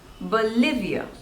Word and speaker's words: Bolivia: Belgium next is Bolivia Bolivia again there are three syllables and the stress is on the second syllable Bolivia Bolivia Bolivia Bolivia